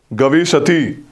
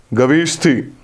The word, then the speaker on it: Gavishthi: The term for war in Rig Veda is Gavishati, Gavishthi, गविष्ठी, गविष्ठी करने चलेंगे, search spelling repeat करना।